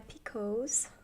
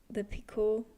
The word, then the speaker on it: picot: We in Austria pronounce most of the stuff in French, while the US Americans pronounce it very English. So I don't know. I was just thinking of the American pronunciation. I was like, picot. No, that's picot.